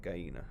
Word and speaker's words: gallina: Oh, look, gallina. Okay, have I been saying it? Gallina, not gallina, gallina. Oh, I gotta correct myself there.